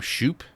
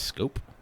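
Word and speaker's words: Schoop: Do you call him Shoop? I always call him Shoop, like the pitcher from Major League 2, I believe it is. But I believe it's pronounced Scope.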